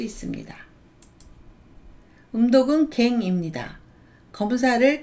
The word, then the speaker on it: 件: 낮게라는 뜻도 들어가 있습니다 음독은 갱입니다 사건을 늦게 직행이라고 하고요 조건을 조갱 조갱이라고 합니다 용건을 요게 요게이라고 합니다 우리나라 말은 검이지만 일본어는 갱이라고 발음합니다 물건 건 자는 운동만